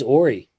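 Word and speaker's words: Horry: So I pronounced it correctly. Then it is Ory.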